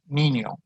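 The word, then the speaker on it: niño: like a y in with a tilde it's pronounced in spanish like io in onion or ny in canyon senor nino r in spanish is very soft like the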